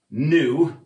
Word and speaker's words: nu: So the frequency, nu, and that's how we write it. It's kind of like a V that's a little bit drunk and wobbly, but it is in fact both pronounced and written nu.